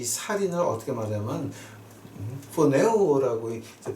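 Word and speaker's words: φονεύω: 자, 근데 그 헬라어로 번역한 거가 이제 이 살인을 어떻게 말하면 포네오라고 이제 발음을 해요.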